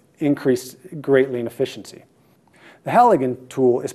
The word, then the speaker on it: Halligan: so this tool increased greatly in efficiency the Halligan tool is pronounced just like that H al Li GaN